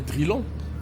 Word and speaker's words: Drylan: Donc je pas cherché loin donc j'ai inversé ça fait drillan mais la prononciation j'ai voulu que ça soit drillan d'